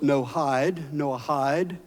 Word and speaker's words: Noahide: It is pronounced Noahide. I like that because that's the way I think about the law, no hide.